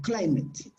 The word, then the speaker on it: climate: Pero igual el acento va al comienzo. Climate.